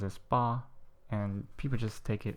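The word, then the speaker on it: 八: like a mustache so um the way it's pronounce it um it's called ba it's pronoun is ba and the reason why it's um spicious why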